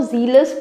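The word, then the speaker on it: zealous: इसको जीलस pronounce करते हैं और इसको जेलस।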